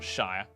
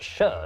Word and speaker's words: shire: it's pronounced sheer not shire actually it's pronounced sher not sheer plebs over the centuries